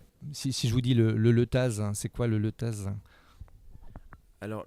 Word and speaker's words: Letaz: Si je vous dis le letaz, c'est quoi le letaz? Alors, le Leta, par chez nous, on ne prononce pas le Z, mais c'est vrai que ça s'écrit avec un Z.